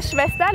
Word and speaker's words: Schwester: En la pronunciación de Schwester, la SSH se pronuncia sh. Y la B doble, ya saben, los dientes en el labio. Schwester. La R al final como una A.